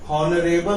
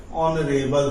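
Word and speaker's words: honourable: इसी तरीके से ये हॉनरेबल नहीं है, ऑनरेबल है।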